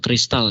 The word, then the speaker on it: X-tal: komponennya X-tal ya, atau X-nya itu dibacanya ini ya, cross, atau dibacanya kadang kristal ya.